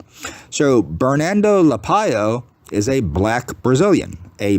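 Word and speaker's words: Lapallo: Everybody else was saying Lapalo, Lapalo, Lapalo. I used to say Lapalo, but now that people actually know that it's Lapayo, I'm going to say Lapayo. So Bernardo Lapayo is a black Brazilian, a black Hispanic.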